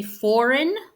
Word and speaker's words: foreign: to pronounce it no the G would be silent in this case same when you shorten the word and you say foreign again foreign instead of saying it's spelled foreign right so you remove the